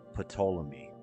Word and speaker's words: Ptolemy: Ptolemies wanted to be like Ptolemy, which Freddy pronounces Ptolemy, even though the P is silent.